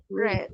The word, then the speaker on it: read: Other is red is the same writing, but the pronunciation is different. Correct. Look at this one. This is in present. This is in past. Can you see any difference? No. No. But the pronunciation is different. in present. Sorry, in present we say Red. Real. read. In past, Red. that is the one.